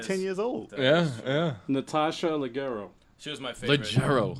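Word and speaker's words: Leggero: he was like 10 years old yeah Natasha legero she was my favorite legero that's how you pronounce the T listen it's a weird it's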